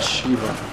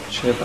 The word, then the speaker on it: Sheva: Run Shiva. Sheva. I think it's pronounced Sheva.